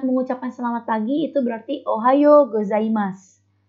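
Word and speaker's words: おはようございます: Kalau kita hendak mengucapkan selamat pagi, itu berarti ohayo gozaimasu. Itu kalau ada huruf su, u-nya dihapus dulu. Jadi mas aja. Ohayo gozaimasu. Selamat siang.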